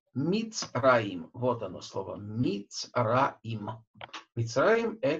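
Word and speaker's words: מצרים: Мицраим – это Египет. Так, вот буква цади, она имеет огласовку шева, поэтому читается она Мицраим, Мицраим, так.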